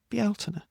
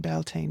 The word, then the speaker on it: Bealtaine: Irish traditions, please, please, please respect the Irish language and just say Bealtaine, okay? The language here is still alive. It's really important. It survived colonisation. It deserves better than people insisting on Beltane because that's what their 20-year-old Coven book said.